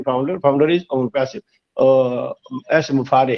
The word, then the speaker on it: Mufareh: My name is एस मुफारे। हम लोग मुफरा बोलते हैं, मुफारा बोलते हैं, कुछ बोलते हैं, but actual name is एस मुफारे। हाँ, लास्ट में रे निकलना चाहिए हमारे।